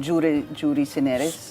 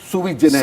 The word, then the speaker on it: sui generis: Jury generis. Yes. How do you say that again, sir? Sui generis. Sui generis, I'm sorry.